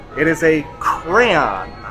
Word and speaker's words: crayon: And if you look at I believe one of our murals actually says the pronunciation is cray.